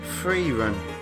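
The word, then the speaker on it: Frieren: uh education for me it's pronounced Free Run wow I never would have guessed that free run but it's really good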